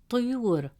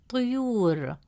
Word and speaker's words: طيور: Third example, the word طيور. In the word طيور, meaning birds, the letter ya has a damme vowel, which gives it a short oo sound, pronounced as you.